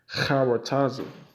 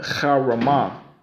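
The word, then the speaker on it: chokhmah: in the Hebrew is to say charataza, or not charataza, but charamah. Charamah is how you say wisdom, or Sophia in the Lashon Kodash, the Holy Tongue.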